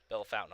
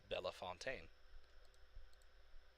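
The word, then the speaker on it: Bellefontaine: have a bell fountain bell fountain ohio it's like no it's bella fontaine or something to that effect french is really rusty put it that way um but they they pronounce the bell fountain and then meanwhile you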